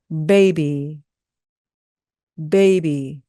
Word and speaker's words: baby: 똑같이 하시면 안 되고 요 앞을 강하게 하셔야 됩니다 baby baby 예 잘하셨어요 자 그리고